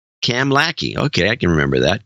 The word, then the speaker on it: Kamloops: It's pronounced Kamlaki, he says. Cam Lackey.